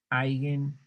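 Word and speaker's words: Eigen: poner una una nota otras nomenclaturas son este alguien vector aunque se diga alguien se escribe bien porque en alemán y se pronuncia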